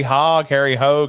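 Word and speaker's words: Hogge: So he's trying to start a racing team, and he gets Robert Duvall, Harry Hogue. How do you say it, Blake? He's got Hogg. Hogg is good.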